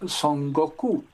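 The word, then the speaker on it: 孫悟空: Él se llama en chino Sun Wukong. Y resulta que los japoneses lo copiaron en el siglo XX, eh, y se pronuncia en japonés Son Goku y es el famoso Goku de Dragon Ball Z.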